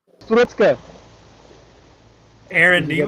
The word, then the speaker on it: Strutzke: So it's Strutzke. Aaron, Did do you you get want to that? try and pronounce that?